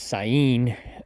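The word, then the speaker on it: Saanen: the Sun and or the proper way to pronounce it is cyan uh I guess that's what I was told the sonen or cyan and the Nubian were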